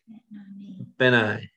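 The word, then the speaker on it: בני: how do you say my son in hebrew ben i b-e-n i ever say ben and i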